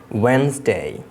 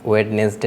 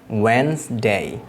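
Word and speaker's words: Wednesday: চেষ্টা করবে আশা রাখি তোমরা তাহলে এগুলোকে শুদ্ধভাবে উচ্চারণ করতে পারবে ফাস্ট যে শব্দটি রয়েছে Monday Monday টিউসডে ওয়েনসডে Thursday Friday Saturday Sunday তোমরা অবশ্যই এই দিনের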